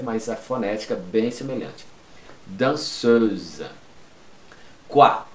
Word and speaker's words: danseuse: La danseuse. Lembra? Dois S, um S entre duas vogais. Som de Z, não pronuncia o final.